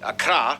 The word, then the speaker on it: Accra: Ho, and Tamale, and of course the capital, Accra, yes, that's how you pronounce it, Accra, located in the southeast along the coast.